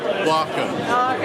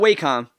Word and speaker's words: Wacom: I'm proving right now how you pronounce that word right there. Okay, say it. Welcome. One more time. Welcome. Welcome. Repeat. Welcome. Repeat. Welcome. There you go. Welcome. Thank you. You hear that? It's not Wacom, it's Wacom.